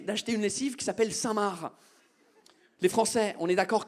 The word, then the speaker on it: Saint-Marc: Elle m'a demandé d'acheter une lessive qui s'appelle Saint-Marc. Les Français, on est d'accord que Saint-Marc, ça s'écrit M-A-R-C. Comme le prénom Marc. Mais vous mettez un Saint devant le Marc et le C, il part en grève.